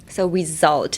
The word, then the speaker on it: result: So, uh, the S in result is actually a Z sound. So, result.